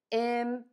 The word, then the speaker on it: immunize: Now, when we add the I-Z-E, everything is going to stay the same. Immunize. Immunize, immunize, immunize. That syllable stress is going to stay the same, and we're going to continue stressing syllable number two.